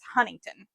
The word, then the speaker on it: Huntington: We actually, at least how I've always heard it, is Huntington. Huntington.